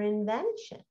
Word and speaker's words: invention: in the hmm it's always going to be shun okay but t i o and sounds like sh sean can be sh2 remember